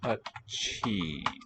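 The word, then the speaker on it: अच्छी: Achi, aspirated. So doubled consonant, but also aspirated.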